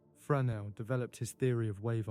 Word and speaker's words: Fresnel: Fresnel, the name is French, and is pronounced with a soft subtlety that I spent some months learning to approximate correctly. Fresnel developed his theory of